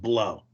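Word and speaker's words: Blough: I think it's pronounced Blow.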